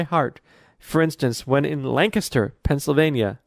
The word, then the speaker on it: Lancaster: for instance when in Lancaster Pennsylvania I said it right Lancaster not Lancaster Pennsylvania about an hour train